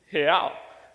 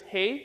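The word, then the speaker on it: é: alternative see in Portuguese the way that you say he is he so let me teach you how to say it um so on the count of three let's say he so it's hey but without the e sound so 1 2 3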